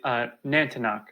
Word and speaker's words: Natinqa: That one I'm not exactly sure how to pronounce, but the other one is actually Natinqa.